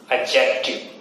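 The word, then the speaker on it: adjective: एडजेक्टिव, D silent ही होता है इसमें, एडजेक्टिव।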